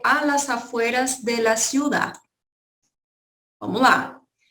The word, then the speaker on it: ciudad: Vamos lá, ciudad termina com D mudo.